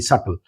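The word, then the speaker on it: subtle: फिर एक वर्ड आया सटल। इसको ज्यादातर लोग गलत प्रोनाउंस करते हैं। एस यू बी टी एल ई सल। इसका बी साइलेंट होता है।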